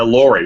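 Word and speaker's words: LORRI: our eye which is Laurie is that how you pronounce it yeah Laurie we call Laurie I stands for long-range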